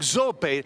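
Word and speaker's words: Zoppé: zopay italian family circus stan hey you actually pronounce that right brook zopay hey you said a new circus you know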